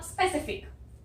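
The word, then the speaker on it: specific: अब स्पेसिफिक, स्पेसिफिक में ये आधा सा आता है स्प, और ये ई जो है ये ए आता है स्पे, से फिक, स्पेसिफिक।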